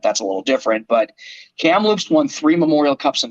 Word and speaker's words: Kamloops: and the seattle thunderbirds i keep wanting to uh pronounce kamloops wrong but anyway it's kamloops yes hamlet's kamloops um little uh a